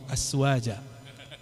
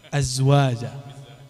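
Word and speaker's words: أزواج: Karena yang menyaksikan beliau buang air kecil kan cuma azwajun Nabi SAW, bukan aswaja. Azwaja. Iya. Kalau dia mau azwaja, Z-nya kebacanya masih S.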